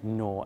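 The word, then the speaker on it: gnaw: you unhappy is to nor act that be careful there's a silent G in the word and tune or at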